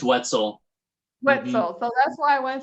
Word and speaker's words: Wetzel: us mr now is it whitsel it's wetzel so that's why i